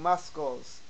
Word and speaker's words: muscle: language and had no idea that we didn't pronounce his letters, you would come off saying muscles, knife, and dumb.